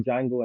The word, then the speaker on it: Django: his great cameo in Jango and chain when Jamie Fox spells name and he's like the D is silent Frank oo was just